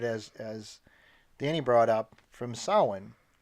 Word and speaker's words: Samhain: Danny brought up from Sawin which is spelled Samhain but it is a Gaelic pronunciation sahlan yeah and when the